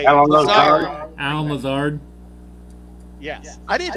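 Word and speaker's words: Allen Lazard: Okay, well, the Jets today signed Alan Lazarno. Or how do you say it? Alan Lazard.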